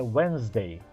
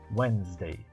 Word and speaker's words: Wednesday: Wednesday. Não tente falar o D, ele não é pronunciado.